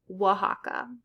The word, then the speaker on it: Oaxaca: And it's sometimes pronounced like H. So Mexico and Oaxaca.